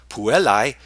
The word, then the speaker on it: puellae: A few letters, such as the ones in the Latin word for girls, puellae, P-U-E-L-L-A-E, are squished together to form a new sound, puellae.